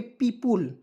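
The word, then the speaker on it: people: ओ पी ए ली क्या पढ़ेंगे पीपल क्या पढ़ेंगे दोस्तों पी य देखिए पी पु ल पीपल पढ़ेंगे दोस्तों पीपल मीस आपको पता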